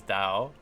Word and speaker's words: Tao: Tao is Dao. And Cao Cao is pronounced Sao Sao.